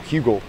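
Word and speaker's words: Heugel: I've learned his name, and I even know how to spell it. H-E-U-G-E-L, Hugel.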